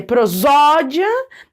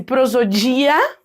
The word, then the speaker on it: prosódia: Então, por exemplo, uma pessoa que lê prosódia, deixando bem forte o zó, porque é a sílaba tônica da palavra, ela tá tendo uma prosódia adequada. Agora, se eu dissesse prosodia, vamos supor, né, deixando mais forte o dia ali, eu estaria descumprindo uma perspectiva da prosódia.